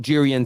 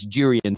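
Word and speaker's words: Jurriën: everybody said it's not durian Timber Terrace URI and Timber turns out it's durian Timber you pronounce the J that's how he pronounces it so we'll go with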